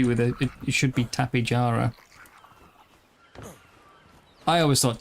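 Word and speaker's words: Tapejara: And they pronounce it with a like they use a J sound instead of H. So it should actually be with a it should be tapara. I always thought tapihara was was the proper way as well.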